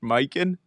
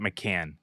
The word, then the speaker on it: Mikan: You were referencing George Mikan. Hey, Josh, spell that last name. Mikan. As 1,000%. Both ways work. Not McCann. Long sounding A. If it was, it could be McCann.